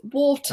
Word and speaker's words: water: if you want to pronounce it properly, it's water.